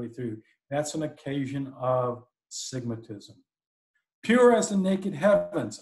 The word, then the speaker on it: sigmatism: One is sigmatism, S-I-G-M-A-T-I-S-M, sigmatism. Not stigmatism, but sigmatism.